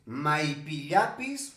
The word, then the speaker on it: maipillapis: ¿Se dice maipillapis o se dice maillapipis? Primero vamos a escuchar a esta persona, sus fundamentos y luego lo analizamos. Cochabamba, Maipillapis. O sea, eso es lo correcto.